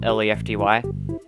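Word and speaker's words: Lefte: assume to spell it L-E-F-T-Y. It's actually spelled L-E-F-T-E because it's an acronym. But if you said Lefty out loud to someone, they're going to assume it's a Y.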